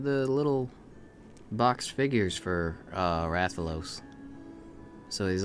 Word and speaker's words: Rathalos: And then they're like, it's Rathalos and Rathian. No. And I was just kind of like, huh? I've been putting the emphasis on the wrong syllable all these years.